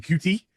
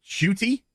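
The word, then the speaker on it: Ncuti: who's going to be why mispronounced as in cutie it's actually pronounced shuty uh gatwa uh somebody who i'll just be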